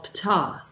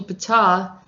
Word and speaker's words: Ptah: So Egyptian mythology, Ptah is probably vocalized as P-I-T-A-H in ancient Egyptian, is the demiurge of Memphis, god of craftsmen and architects.